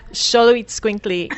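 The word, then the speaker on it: Xoloitzcuintli: Sholoit Squinkly. And I was told by someone who lives in South America how to say that, because I didn't know how to say it either.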